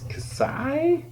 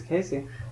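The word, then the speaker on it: Kasi: can't pronounce the name you think it's casai k i I think it's Casey Casey k i i don't pronounce I would have also said Casey lemons all right so yeah or Cassie or Cassie yeah she directed ease byou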